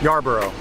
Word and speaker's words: Yarbrough: your last name again Yarbrough yeah Yarborough Yarborough you say Yarborough Yarborough Darbar it disappears at the end there yeah just just fades off yeah broom yeah Ann